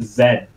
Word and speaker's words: Z: and also and also British people pronounce it zed z yeah that's weird yeah